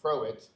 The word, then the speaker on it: Croat: So next up is going to be Croat. And yes, it rhymes with poet, and I didn't even know it.